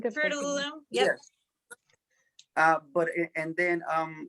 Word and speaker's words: Fruit of the Loom: Fruit and Loops. Am I saying it right? Fruit of the Loom.